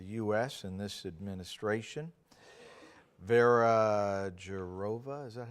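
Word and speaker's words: Jourová: Vera Jourova, is that how you pronounce that? Has been obviously one of the leaders in formulating the Privacy Shield. She'll be Jourova.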